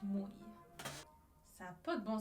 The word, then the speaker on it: mui: Vous lisez Mui, mais en hawaïen, ça se prononce Mui.